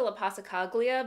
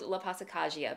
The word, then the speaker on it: La Passacaglia: name of this quilt i was calling it the lapasa caglia but no no it is called la pasacagia because the l uh has a just sound to it um and